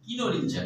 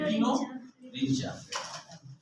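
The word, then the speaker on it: Kinorhyncha: রটিফেরা আর দেখো কই কিনো রিলিঞ্চা এর উচ্চারণ হবে কিনো রিঞ্চা কিনোরিঞ্চা কিনো রিঞ্চা পি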